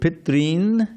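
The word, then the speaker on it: pitṝn: Okay, so we have the word Pitrin and Pitri. I think you mostly got that right. R with a dot under it is a vowel in Sanskrit. Ri.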